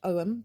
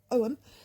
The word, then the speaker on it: Ogham: uh I have been considering um the augum pronounced om but uh I will use both ways of